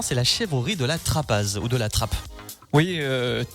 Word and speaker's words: Trappaz: la chèvrerie de la trappe ou de la trappe oui trap c'est le lieu mais les la prononciation se dit comme ça en local mais c'est vrai que les gens distrapage donc on est une chèvrerie